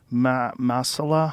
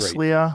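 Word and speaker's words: Masliah: But over the past 2 years, questions have arisen about some of Masala. How do you say his name? Masila. Masila. You were great. Maslia.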